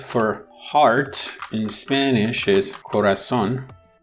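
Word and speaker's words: corazón: heart in spanish is corazon according to the rules of phonology in spanish the stress should be penultimate which is but because it's not it is on the last syllable you mark it basically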